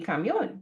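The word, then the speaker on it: camión: The rule was if a word ended in N, then the stress would go on the second to last syllable. So it would be camion instead of camion, right? But Spanish wants the word to be camion. So they put an accent here to show that the pronunciation is different.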